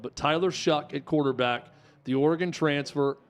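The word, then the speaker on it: Shough: nine and two Tyler shuck it's a weird pronunciation for how the name is spelled but Tyler Shook at quarterback the Oregon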